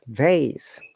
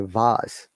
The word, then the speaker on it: vase: American will say it vase, British will say vase.